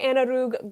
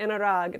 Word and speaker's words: Anurag: Hi, Anarug. Did I say your name right? Or Anurag. Anurag. There's no you there.